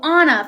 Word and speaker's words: Anna: Oh, Anna from like Frozen. Yeah, but pronounced Anna.